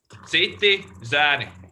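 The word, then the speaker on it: Citi Zēni: So one question in the beginning: how do you pronounce your band name? Citi, Zeni.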